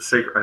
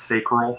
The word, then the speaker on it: sacral: solar plexus you know the sacred I think it's pronounced sacral and then you have